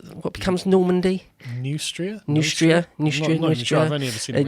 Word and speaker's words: Neustria: But I've heard it said that the Burgundy, Austrasia, and how do you pronounce what becomes Normandy? Neustria. I've only ever seen it Neustria, yeah.